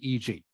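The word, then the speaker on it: e.g.: see this written down you just say EG you don't need to say for example just say EG okay and this last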